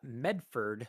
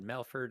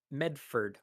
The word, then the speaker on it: Medford: So here we have Adam the Great again clarifying from an earlier super chat that it's Medford. So perhaps I mispronounced it or said Melford or something. Medford, Oregon.